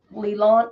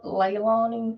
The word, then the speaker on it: Leilani: evidence to maybe convict Leland Leilani is how you say it yeah yeah if they